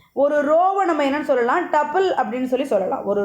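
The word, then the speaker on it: tuple: ரோ அப்படிங்கிறது வந்து டப்பிள். ரோங்கிறது வந்து டப்பிள். சில பேர் டியூபிள்னு ப்ரொனவுன்ஸ் பண்ணுவாங்க. ஸோ நம்ம வந்து டப்பிள்னு எடுத்துக்கலாம். டப்பிள்.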